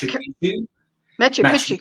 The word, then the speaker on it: Machu Picchu: So there's something, if it's Machu Picchu, is that how you say it? Machu, how do you say it? I think correct. Machu Picchu, correct, girl.